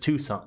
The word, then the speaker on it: Tucson: You don't pronounce a C. It's just Tucson.